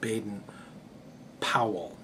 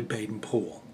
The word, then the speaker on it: Baden-Powell: the Americanized pronunciation of Baden Powell it's actually Baden pool um that's that's actually how they pronounce it in England that's how he actually